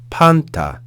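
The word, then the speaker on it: πάντα: we have the consonant P followed by an alpha with an acute accent so we're going to raise pitch on that syllable we then have the consonants new the consonant Tau and the alpha so panta panta panta next we have the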